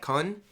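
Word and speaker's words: Kuhn: It was like K-U-H-N. Is that Kun?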